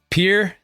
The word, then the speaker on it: Pierre: Pierre, like a boat dock, South Dakota. That's right. Yeah, you can automatically tell if somebody's from, South Dakota or not based on if they can pronounce the state capital the French way or the South Dakota way. So yeah, it's definitely more like the boat dock.